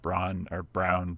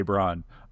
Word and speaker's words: Braun: Just imagine it's spelled that. Yeah, like Parker was on Missouri's roster. I still wanted to say Braun.